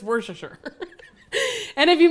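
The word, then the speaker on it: Worcestershire: because everyone's like oh how do you say it just worsh sure and if you mispronounce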